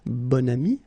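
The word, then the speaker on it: bon ami: adjective okay and then you pronounce it bonami when you make this link second example bam so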